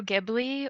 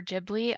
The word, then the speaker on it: Ghibli: way it's pronounced but I'm a fan of the hard G it's GI and it's gibli come at me so